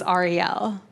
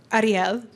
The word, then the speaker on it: Ariel: Because, Jews say my name one way, which is Ariel. But my dad is Spanish, and Spanish people say it Ariel. But I grew up in Kentucky, and they say it Earl.